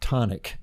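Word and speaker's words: chthonic: you can also use my dad pronounced it tonic but c-h-t-h-o-n-i-c um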